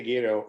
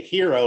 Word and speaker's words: gyro: You can say gyro or you can say hero like the rest of us.